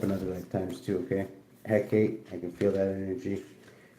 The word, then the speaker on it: Hecate: Hecate's pronounced Hecate.